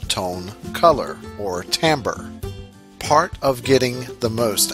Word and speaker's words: timbre: by their tone color please note that tone color and tamber mean the same thing and that tamber is pronounced tamber it is interesting that